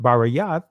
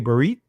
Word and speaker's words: Berith: Berith, or in the ancient, it's pronounced Barayath, but if you want to say Berith, right, that means covenant, right?